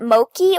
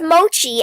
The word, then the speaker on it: mochi: have a quick question did they call it Moki or mochi thank goodness cuz I might have like gone crazy that is the weirdest thing because it's pronounced mochi and everybody says it wrong no they don't